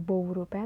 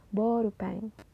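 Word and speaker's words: ボールペン: beda seperti kata seperti huruf o dan u dibacanya itu O panjang seperti kata borupen Bukan bourupen tapi borupeng nah kemudian huruf e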